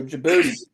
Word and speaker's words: Djibouti: So the Chinese have like this pretty big base in, God, I'm going to mispronounce it. Djibouti? Oh, Djibouti.